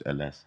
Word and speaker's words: Ellesse: Surname begins with S, so it's Ellesse. But he done the Eminem thing before Eminem, so it was Ellesse. Like it's Italian. Italian, bro. Ellesse.